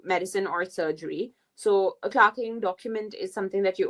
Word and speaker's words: clerking: if you're in medicine then this is something called I don't know why they pronounce it as clarking even though you write it as clerking but this is basically